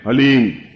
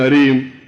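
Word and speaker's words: ह्लीं: वो बोले ओम हलीम बस ये हलीम शब्द बहुत ध्यान से उच्चारण करने देना है। HALEEM, हलीम। कोई बोले हरीम, कोई बोले हीम, तो कुछ फायदा नहीं होगा। हलीम, हलीम, ह आधा है।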